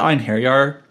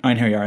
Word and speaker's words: Einherjar: Also, the way that Einherjar, or Einherjar stories, I'm always going to pronounce it Einherjar, because that's how they did in the original Valkyrie profile.